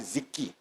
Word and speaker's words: Ziki: And we just turn the whole automation, the whole whatever that our team is using and build out Ziki, Zack, icy and we pronounce Ziki.